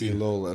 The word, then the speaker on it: Elola: It's Elola. So it's like see, I would cola, mispronounce but with that.